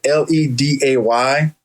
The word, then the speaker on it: Ledet: So my last name is pronounced Ledet because the E-T in French is pronounced A. Right. So it's Ledet. But some people spell it Leday, how it sounds. And then some people, when they see the E-T, they just say Ledet. But the French term is Ledet, but Ledet is fine.